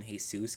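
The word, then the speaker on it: Jesús: know why I said hey Zeus I'm is just like it like something I'm accustomed to someone's name is jesus i call him hey soos cuz that's how you're supposed to pronounce it anyway I'm sorry guys for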